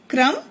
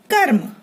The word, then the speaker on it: कर्म: यहाँ र है पदेन रूप में और यहाँ र है रेफ रूप में, और दोनों का उच्चारण कैसे भिन्न हो जाता है देखिए, क्रम कर्म, क्रम कर्म।